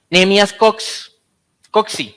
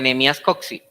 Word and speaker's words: Nehemías Coxe: Nehemías Coxey, creo que se pronuncia Nehemías Coxey.